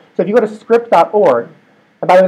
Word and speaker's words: Cycript: Etc scripts code so if you go to script. org and by the way that's how I pronounce it it's the Cy is gemin s